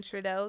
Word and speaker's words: Trudeau: This is one of the books, but not this actual book, but really the author, Kevin Trudeau. That's how you say his name, and that's how you spell it, Kevin Trudeau.